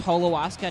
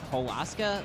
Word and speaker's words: Holoska: fact I should have you know it's it's pronounced Holo ASA not Hol ASA like the names look pretty similar but the